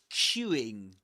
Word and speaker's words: queuing: Look at my mouth when I pronounce this word. It's Q, Q. The lips go forward. Q, Q. And they get quite rounded.